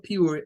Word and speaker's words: pure: Entonces, aquí, para que tengamos una mejor idea, la palabra pure, en primer lugar, es de una sílaba.